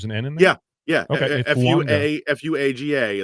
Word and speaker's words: Fuaga: Fuaga is pronounced Fuanga.